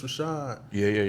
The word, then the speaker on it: RVSHVD: And so like the uh or the title is just uh it's Rashad. Like one, it's like this is me. Uh two like this is how you say my name because a lot of